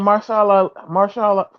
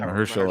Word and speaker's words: Mahershala: Are they still going with Marshall? However you say his name. Mahershala Ali.